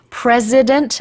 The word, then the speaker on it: president: President Xi Jinping has started his precedent-breaking third term. Yes, very good. President하고 precedent는 발음이 달라요.